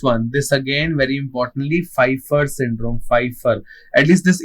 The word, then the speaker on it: Pfeiffer: So this part is done and Pfeiffer the P is silent in the Pfeiffer syndrome okay?